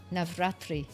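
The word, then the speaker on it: Navratri: Basically for Navatri. Am I saying it right? You're saying it perfectly. Navatri is the is a is a massive holiday here.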